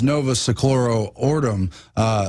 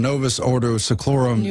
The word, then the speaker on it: Novus Ordo Seclorum: But now it's Novus Seclorum Ordum, New Order of the Ages. Excuse me, I said it wrong. Novus Ordo Seclorum, New Order of the Ages, New World Order.